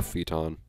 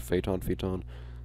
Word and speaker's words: Phaeton: Poor Phaeton. I think that's how it's pronounced. Phaeton. I generally consider AE to be a long E sound, because it's a digraph in some cases, but this poor car.